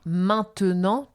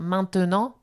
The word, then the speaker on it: maintenant: le E au milieu d'un mot, eh bien, on va pas prononcer. On va donner un exemple. T'en as peut-être un en tête. Bien sûr, par exemple, maintenant.